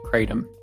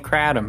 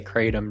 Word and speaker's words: Kratom: I've decided that the word is pronounced Kratom. I've been saying Kratom my whole life, but I've heard way too many people say Kratom now, so I've got to join the crowd.